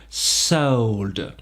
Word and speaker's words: sold: 7 vendre serre soldes encore une diphtongue ici on part du E pour finir sur le haut pour glisser vers le haut sould serre solde racontez vous